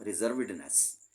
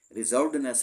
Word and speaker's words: रिजर्वेडनेस: फिर रिजर्वेडनेस वर्ड होता है। रिजर्व होना रिजर्वडनेस रिजर्वनेस नहीं होता। रिजर्वेडनेस है।